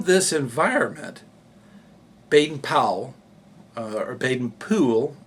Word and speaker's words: Baden-Powell: environment baden-powell uh or baden poole as i've been told it's spoken and that's how it's said and by the way